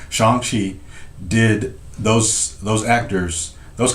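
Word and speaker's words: Shang-Chi: appearances they don't say theatrical okay yeah but shang chi shanxi good point john you're right i did see the movie they they he said it right shanxi did those those actors those contracts were signed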